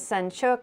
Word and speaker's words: Senchuk: Laura, it's Ukrainian. The real pronunciation is Senchuk, but my husband prefers the English version.